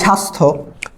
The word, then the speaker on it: স্বাস্থ্য: না যদি তোমাকে বলি স্বাস্থ্য দন্তস্য আছে দন্তস্য থাকলে কি হয় তালব্যস হয় দন্তস্য কোন বর্ণের সাথে ব ফলা যদি সর্বপ্রথমে যুক্ত থাকে তাহলে সেটা উচ্চারণ হয় না এজন্য আমরা উচ্চারণ করি